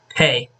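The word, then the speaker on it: Pei: the ex-ceo of the chinese company oneplus karl hey uh yeah that's how it's pronounced he think it's spelled p e i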